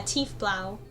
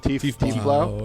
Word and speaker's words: tiefblau: It was Thief Blue? Tiefblau? or something like that. It's deep blue. Tiefblau.